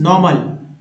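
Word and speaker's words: narrow: Notice normal. Native, native के बाद nobody है, नोबडी। नैरो, देखिए ओ डब्ल्यू को ओ बोलते हैं तो रो हो गया, नैरो।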